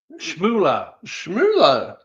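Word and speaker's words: Schmulow: a guy called Professor Andy Schmooler. Now, that's spelled S C H M U L O W.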